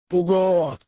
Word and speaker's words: Пугод: Ударение на О. С древнегреческого это имя означает «пошел нахуй». Пугот.